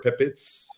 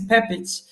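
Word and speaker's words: Pepić: And the correct pronunciation is Pepic. So I originate from Bosnia, Croatia, Serbia area. So quite a mix. So my surname is Pepic.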